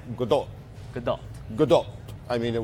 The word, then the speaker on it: Gadot: they go into great detail saying that it's Gadot, but then they include a link to all the times she says her own name.